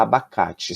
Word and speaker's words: abacate: sua sílabas A abacate que parte do abacate eu falo mais forte preste atenção a aba Cap eu falo cá então o k é a sílaba mais forte da palavra abacate Você lembra como se chamam